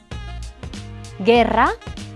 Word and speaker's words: guerra: El grupo GU se pronuncia G con las vocales E, I. Guerra, guitarra. Aquí la vocal U no tiene sonido.